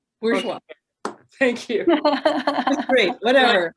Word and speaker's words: Bourgeois: I always pronounce her name wrong, but Bourgeois. So, how do you say it, Lisa? Bourgeois. Bourgeois.